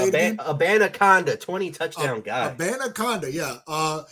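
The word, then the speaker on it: Abanikanda: Abanaconda, 20 touchdown guy.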